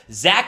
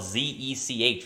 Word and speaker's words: Zech: ZECH McPHERSON, even though it's spelled Z-E-C-H, which is kind of weird.